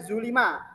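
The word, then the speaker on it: ظُلِمَ: Dia di sini domah atau u, sedangkan di sini fathah atau dibacanya a, zolama. Kemudian zulima.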